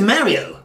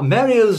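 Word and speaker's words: マリオ: the way he said the first symbol of course means ma the second one is re and the third one is off hence Mario or Mario in English but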